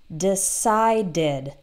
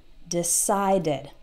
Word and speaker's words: decided: started has two syllables, or decide, ends in D, that has two syllables, and in the past, decided, decided.